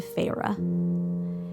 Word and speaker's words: Feyre: decided to give her the name pharah it's spelled f-e-y-r-e and it's directly swiped